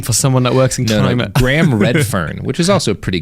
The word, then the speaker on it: Redfern: someone that works Graham Redfern which is also a pretty good name for example read firm actually but I think it's pronounced red fern it's